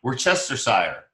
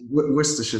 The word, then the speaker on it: Worcestershire: We try to pronounce the whole thing. Worcestershire. Yeah, Worcestershire sauce.